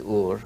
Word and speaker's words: Ur: from Su came from a city called Ur or a as many here pronounce it but the true pronunciation is ur if he came from